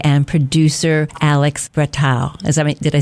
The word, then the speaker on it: Alex Bretow: And my guests today are director, writer Kourosh Ahari and producer Alex Bretow.